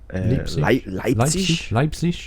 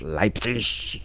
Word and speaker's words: Leipzig: How do you say that? Leipzig. Leipzig. You have to have an angry voice when you speak German.